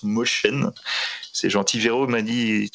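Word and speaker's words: Mosjøen: Il a réalisé une série en 19 épisodes qui s'appelle Made in Mosjoen, qui se prononce Motion.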